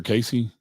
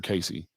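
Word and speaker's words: Cayce: Casey is spelled Kayce. If you want to look up Edgar Casey, fascinating guy.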